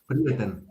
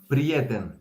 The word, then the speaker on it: prieten: Prieten. Again. Prieten. Prieten. Prieten. That's friend. Prieten. Prieten. Is it with a like a den or 10? 10. It's 10. Prieten.